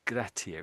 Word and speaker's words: gratia: Grat the Latin way is gratier, isn't it?